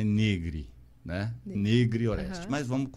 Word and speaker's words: Negri: Todo mundo fala Negri. Negro Orestes. Mas a pronúncia certa italiana é Negri.